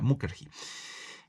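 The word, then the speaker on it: Mukherjee: sidarta eh mujeri eh Sí mukerji así así se pronuncia mukerji que es ha convertido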